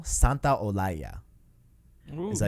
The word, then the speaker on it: Santaolalla: This is how you say it, okay? Okay, let's hear it. Gustavo Santaolalla.